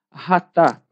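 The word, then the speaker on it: חטא: é a amartia ou ratá. Aqui o pastor Ezequiel Soares ele escreveu como chatá e pronunciando ratá.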